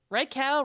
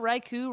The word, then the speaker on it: Raichu: so yeah raichu's back reichow Raichu Reiko how do you say it I am a right I say Reiko yeah I think it's